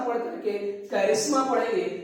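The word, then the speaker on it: करिश्मा: Charm के से ही आपका निकल के आया है और वो बना आपका कैरिस्मा। इसको चेरिस्मा नहीं पढ़िएगा, कैरिस्मा पढ़ेंगे यहाँ पर, याद रखिएगा प्रोनाउंसिएशन भी आपका जरूरी है।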